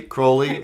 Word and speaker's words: Crowley: Crowley rhymes with... Unholy.